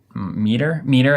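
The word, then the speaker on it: Mitre: Miter? Meter, I think.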